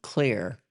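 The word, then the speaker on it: Xlear: There's a product out there called Clear. It's spelled with an X and then Lear, and it's pronounced clear.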